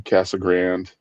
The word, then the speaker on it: Casa Grande: we moved to uh Casa Grande, Arizona, or as PE locals say, Cassag Grand.